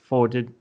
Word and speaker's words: Foetid: You can include up to 3 Foetid. Oh my god, I remember. Fetid. There we go. The O is silent. The O is silent. Yes, it's a silent O.